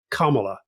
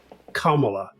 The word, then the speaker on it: Kamala: And it also seems that Alistair was paying attention to Rory's new improved pronunciation, as we heard at the start of this video. Kamala. Again. Kamala.